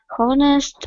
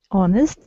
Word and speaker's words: honest: moral 10 moral uh honest uh truthful having good Wes honest H is not pronounced honest truthful having good